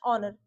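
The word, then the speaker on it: honour: Next है हमारे पास dash ऑनर। अब ये क्या हो गया? सेम सेम इसी में एच हमारा साइलेंट रहेगा और यह हो जाएगा हमारा ऑनर।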